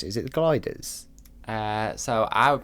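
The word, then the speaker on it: Glyders: Is it the gliders? So I would pronounce it the Glidders.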